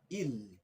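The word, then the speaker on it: ils: see the next one the pronunciation will be ill and S is silent here and this is of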